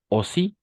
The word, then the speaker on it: aussi: Toujours la combinaison de voyelles A et U para nosotros va a ser O. Siempre en un 90%, 99% de veces la combinación es de letras A y U va a ser O.